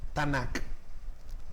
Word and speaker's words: Tanakh: Es una T más N más K. Tanakh. Hay la cultura occidental y la europea la han asumido con estas vocales para que sea fácil pronunciar y recordar. Entonces, para no decir TNK, sino la Tanakh, es ese Antiguo Testamento.